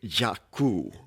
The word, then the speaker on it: Jaku: And Jacko doesn't sound like it's an Indian name. it's actually Jakku.